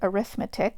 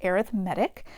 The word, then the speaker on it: arithmetic: looks like the word arithmetic which is one way you can pronounce it but in this context it's pronounced arithmetic so think like a paramedic it's pronounced the same way arithmetic an arithmetic sequence